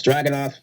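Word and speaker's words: Dragunov: this right surprisingly Finn Balor again I cannot pronounce this guy's first name Thank You Christian it's dragon off 14 minutes this match was so much fun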